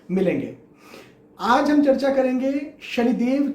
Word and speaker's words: शं: यहां पर न एग्जैक्टली न का उच्चारण है, न एग्जैक्टली म का उच्चारण है। यहां पर उच्चारण है शन।